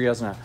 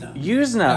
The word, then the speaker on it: Yuzna: yes sir yes um mr yeozna um one of my favorites used usena okay great i've been saying it wrong all this time um